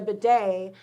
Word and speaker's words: bidet: You do what I did, and you get a bidet because we should be using Bidets are them wonderful.